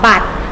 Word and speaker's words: บัตร: สี แดง นะ คะ มัน จะ อยู่ ท้าย คำ แต่ มัน ไม่ ต้อง ออก เสียง นะ คะ บ่ อะตอม บัตร บัตร แข็ง บัตร เอทีเอ็ม